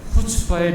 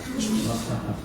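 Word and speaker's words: חוצפה: 두 번째에 슬라이드를 보시면은 유대인들의 특징 가운데 두 번째 후추파의 민족이다. 어, 좀이 발음 한번 따라. 이게 굉장히 중요한 발음인데 한번 따라해 보세요. 후추파. 후추파. 예. 예. 목에서 가로이 가래가 나오는 것처럼 후추파.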